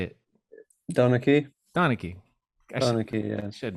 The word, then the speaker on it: Donnachie: Donnachie.